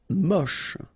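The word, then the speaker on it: moche: Mush. Don't insist on the final H. Then you get the last sound is sh mush.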